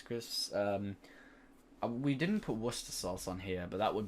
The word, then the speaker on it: Worcestershire: washington washing sister sauces i have had a bunch of southern americans say yeah i i thought it was just worcester sauce no it's worcester sauce or worcestershire sauce fair enough for some reason americans say washed your sister sauce washed your sister stores